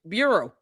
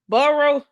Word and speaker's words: Bureau: Trying to use big words you can't define or spell or even pronounce correctly. You can't make this up. We saw a video of this girl butchering Bureau. It's so ridiculous. Baruo.